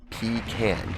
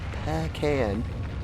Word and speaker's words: pecan: to do much when it's from texas it's pronounced pee can peck can okay hello yarnyland how